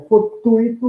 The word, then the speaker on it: fortuito: Em fortuito, nós temos um ditongo, nós não temos um hiato, é fortuito, não fortuito. Então, aí a resposta é letra E, casando-se com intuito. Vocabulário, intuito, intenção, fortuito, por acaso, imprevisto, né?